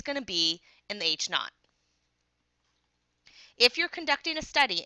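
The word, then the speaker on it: H₀: not which is na ght but it's really pronounced H knot so the null hypo hypothesis H knot is a h a statement that the value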